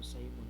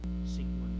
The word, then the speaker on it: Sigmund: narap sa pinatunggan nga ini-pronounce ko no Simon ko na ni pag-pronounce. So akong gi-sure Sigmund gid ay siya.